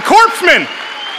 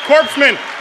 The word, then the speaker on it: corpsman: here for Army Marines Navy any any the corpseman corpsman hello corpseman guten tag corpsman that's how you